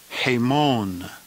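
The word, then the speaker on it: ἡμῶν: and it means we the plural genitive is pronounced a Mon hey Mon and it means hour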